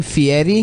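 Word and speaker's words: Fieri: best part though dude he pronounced his name fiti yeah and he was born guy fairy he was born guy fairy and he pronounced it fiti I'm not no dude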